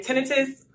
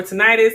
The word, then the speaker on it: tinnitus: hearing losses disability and tinnitus or tinnitus some people pronounce it differently we're gonna talk about